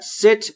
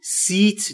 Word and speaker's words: sit: و در مورد تلفظ ای در sit باید دقت بکنید، بین ای و ای تلفظ میشه، یعنی seat نیست، sit یعنی نشستن.